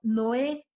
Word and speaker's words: Noé: Por ejemplo, Noé se divide en dos sílabas porque hay dos vocales fuertes. Ahora, la sílaba tónica se encuentra en la última sílaba, por lo que Noé es una palabra aguda, es una vocal y